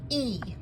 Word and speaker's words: y: out this right here e that letter y is the word and and it's pronounced like a long e okay e the Y is pronounced just like the long e okay so let's try